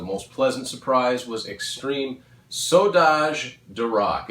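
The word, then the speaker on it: Saudades: Bands were active again and actually recording again, and one of the ones that was the most pleasant surprise was Extreme Saudage de Rock. It's spelled S-A-U-D-A-D-E-S.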